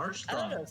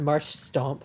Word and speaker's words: Marshtomp: Something about like transitioning from like sh to t bothers me. Okay. Yeah, I've heard Marsh Stomp before. Yeah, I used to pronounce it that way too. So But yeah, that was when I was much younger.